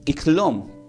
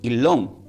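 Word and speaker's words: ξύλον: Y en el Nuevo Testamento del griego se pronuncia como iklom, porque va con una X adelante. La X, la Y, la L, la O y la N. Uno podría decir Ilom, pero como está la X, se debe pronunciar como Ilom.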